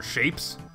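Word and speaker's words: shapez: uh some good old chapezio it's been a long time since I played chapez or shapes you know spelled with a zed it used to be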